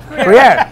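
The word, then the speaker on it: Gruyère: How do you say it? Crozet. It's kind of a weird name. Gruyere. Something like Guerere? Gruyere? Gruyere. That's right. Actually, that's right.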